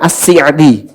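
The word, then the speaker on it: As-Sa'di: Keluarganya sendiri mengatakan cara baca yang benar adalah asi.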